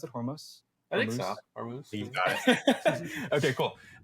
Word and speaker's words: Hormuz: Is that how you pronounce it? Hormuz? I think so. Hormuz.